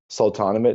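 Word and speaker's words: Sultanahmet: be looking at the Sultanate neighborhood. Mm-hmm. That's how you say it colloquially, but it's named after the Sultan Ahmed. So it's literally Sultan Ahmed.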